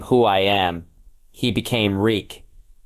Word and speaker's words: Reek: He became Reek. It rhymes at freak.